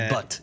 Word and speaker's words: Bhat: So the right way to pronounce it, it's so funny too. So, okay. So exactly. Yeah, so it's Bhat. It's Bhat.